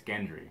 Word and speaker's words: Gendry: Gendry the bastard Gendry it's Gendry yeah hard G the bastard barathan bastard